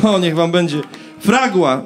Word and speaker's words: Fragua: Fragua! No, niech wam będzie. Fragua. Akcent jest na pierwsze A, bo to jest hiszpańskie słowo.